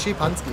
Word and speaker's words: Szepanski: Das heißt Czepanski, ganz einfach.